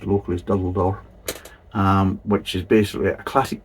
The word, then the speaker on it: Durdle Door: that was kindly donated by Adrian, and it's Durdle Door, or Durdle Door, but I think it's pronounced locally as Durdle Door.